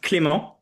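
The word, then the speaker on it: Clément: Uh it's pronounced Clemo.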